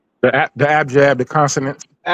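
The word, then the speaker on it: abjad: When you start talking about the abad, is that how you say abad? The the abjab, the consonant.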